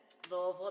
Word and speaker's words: Louisville: heard it so we are from louisville kentucky louisville that's how you pronounce louiseville and we are living in the hoosier national forest right here in southern indiana right south of 64.